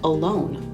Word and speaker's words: alone: this one here is alone alone same thing right the stress is on the second syllable so we met this